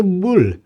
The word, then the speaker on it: bool: Kalian bacanya jangan bool, ya, Guys, ya. Ini Bull.